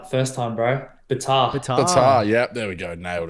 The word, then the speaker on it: Betar: How do I actually pronounce it? You got it right the first time, bro. Betar.